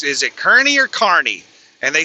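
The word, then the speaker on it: Kearney: is it Kernney or Carney? And they said it's Carney. And they said that everyone that doesn't live around here typically pronounces it as Karnney. So, it's Carney according to the locals.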